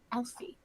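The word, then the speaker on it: Elphie: Elfie. Now we're Yeah. obnoxious and disrespectful. It's spelled E-L-P-H-I-E. P-H-I-E. TH. P-H. Hold on. What? PH. E-L-P-H-I-E. Like alphabet? Elfie. Yes. Elfie. Like alphabet.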